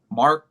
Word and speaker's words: marked: Marked, marked, Market. Market. No, marked. Not Market. market, not supermarket, but marked. Market. Like with a D, marked.